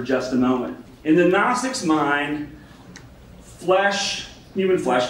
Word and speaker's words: Gnostics: So that's why my silent G is there. It's like gnat, right? It's not Gnostics. The Gnostics.